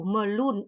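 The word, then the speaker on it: meloen: di sini kita lihat o o sama e dibacanya u melun UN melun sedangkan di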